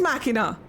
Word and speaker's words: Machina: Yeah, so it is Machina.